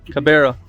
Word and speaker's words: Kibera: So in this Kibera, am I pronouncing it right? Kibera? Kibera.